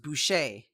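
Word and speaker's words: buy'ce: entire mandalorian language essentially so today's word is boucher it's spelled really weird it's spelled b-u-y apostrophe c-e and it's pronounced boucher and it's it's mandalorian for helmet so like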